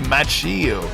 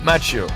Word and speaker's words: Macchio: Have I improved my pronunciation? I used to say Macchio. This is what happens when a Frenchman tries to pronounce an Italiano-American name. It's a mess, guys. Ralph Macchio. Am I doing better?